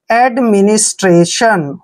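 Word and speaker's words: administration: की मात्रा पढ़ते हैं और टी आई ओ एन जहां भी इकट्ठा आता उसको शन पढ़ते हैं शन देखिए स्ट्रेशन आप पढ़ते हैं एडमिनिस्ट्रेशन हो गया ना एडमिनिस्ट्रेशन एडमिनिस्ट्रेशन होता है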